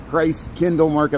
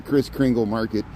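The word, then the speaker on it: Christkindlmarket: I gotta say it right. Christ Kindle Market. I call it the Chris Kringle Market in Daily Plaza.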